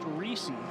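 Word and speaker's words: Risse: reesei it's spelled r i SS e but pronounced reesei and uh our man Gregory is dancing and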